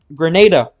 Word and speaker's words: Grenada: heard the thing uh how's Granada at the moment not Granada uh Grenada sorry I keep mispronouncing it I keep forgetting about the pronunciation how's Grenada doing uh